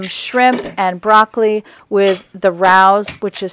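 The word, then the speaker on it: Rao's: I had some shrimp and broccoli with the Rouse which is spelled r-a-o apostrophe s alfredo sauce on top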